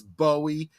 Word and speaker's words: Bowie: And uh okay, Pit Sniper's getting bothered by my pronunciation of David Bowie. I am pronouncing it in the British. Um I know that he was known as Bowie in the United States.